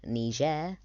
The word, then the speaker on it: Niger: this country up here Niger that's the proper way to pronounce it Niger um and then after